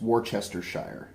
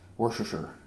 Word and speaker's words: Worcestershire: It's Worcestershire, but you know what, nobody says that, so Worcestershire.